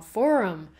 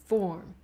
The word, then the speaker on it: forum: 片里，我有讨论到 forum 论坛这一个字的第二个音节也是 schwa sound，而它也常会被误念成 form，所以在这里提醒大